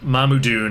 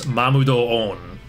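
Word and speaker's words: Mamudoon: This means the correct way to say it is not Mamudun, it's Mamudo-on.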